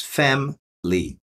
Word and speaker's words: family: Você pode pronunciar family com três sílabas, mas geralmente é family. Duas sílabas. Family.